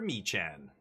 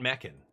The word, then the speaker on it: Mechan: Zookeeper Mechan. It's not Meccan. You guys just don't know how to pronounce it.